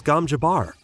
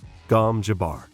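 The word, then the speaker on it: gom jabbar: two and many many more and I produce gam Jabar the number one Dune podcast in the world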